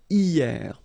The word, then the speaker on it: hier: Hier. So remember, this H here is not pronounced, okay?